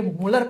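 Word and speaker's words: Mulder: देखो स्पेलिंग ऐसे लिखते हैं, प्रोनाउंस करते हैं तो डी को साइलेंट करके मुलर प्रोनाउंस करते हैं।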